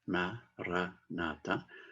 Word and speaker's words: Maranatha: Alors, si on utilise le mot Maranatha, on le dit, il y a 4 syllabes, Maranatha. Donc, on le dit de façon normale, avec douceur, Maranatha.